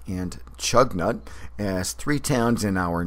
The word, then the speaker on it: Choconut: in our Northern regions whose pronunciations bear little resemblance to their spelling since strua looks phonetically like Stuka equino like equinunk and chug nut looks like choconut where famed Aviator Charles